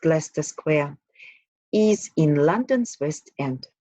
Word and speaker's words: Leicester: While Leicester Square, pronounced Leicester Square, is in London's West End, the square, famous for its cinemas.